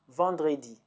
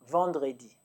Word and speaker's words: vendredi: If you didn't, Friday is Vendredi. Vendredi.